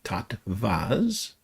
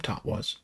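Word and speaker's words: tattwas: t w a s pronounced with a v tot vas. Okay. Some people call them totas.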